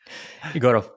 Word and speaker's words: Egorov: last name what is your last name igoro igoro yeah oh it's pretty good okay okay